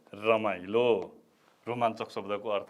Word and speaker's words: रोमाञ्चक: रोमाञ्चक, हेर्नुहोस् है त, यसको उच्चारण यस्तो हुन्छ, रोमाञ्चक। रोमाञ्चक लेख्दाखेरि यो य थियो भने हाम्रो उच्चारणमा य हुन्न, न हुन्छ। त्यसकारणले रोमाञ्चक, क पनि पुरा हुँदैन, आधा कको मात्रै उच्चारण हुन्छ। त्यसकारणले रोमाञ्चक 3 अक्षरले बनेको शब्द हो रोमाञ्चक।